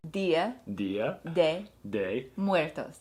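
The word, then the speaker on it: Día de Muertos: She didn't like my initial pronunciation. I didn't. She was like, Muertos. Muertos. Dia de Muertos.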